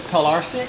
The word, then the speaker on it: Pilarczyk: It's Pilarczyk. It's Polish.